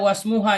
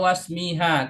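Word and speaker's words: واسمها: Tadi Anas baca wasmuha ya. Wasmuha Ustaz. Wasmuha apa wasmiha? Wasmuha tadi saya bacanya. Yang benar adalah wasmiha. Kenapa wasmiha? Karena ini maktub kepada inna, sementara inna ini dia fi mahali jarin ada min.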